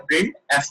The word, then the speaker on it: printf: Output function है सी language का और इट इज प्रोनाउंस्ड एज, इसको कैसे बोला जाता है, प्रिंट एफ पढ़ा जाता है।